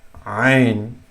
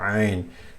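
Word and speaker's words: عين: So ha was right at the Adam's apple, but ain, you can feel it here. Ain, there's some vibrations you will feel. Ain. So ain comes from the middle of the throat.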